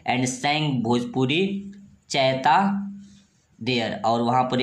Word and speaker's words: Chaita: एंड सैंग Bhojpuri चैता there, और वहाँ पर ये भोजपुरी चैता गाया करते थे। ध्यान देंगे ये चैता लिखा हुआ है, ये क्या है?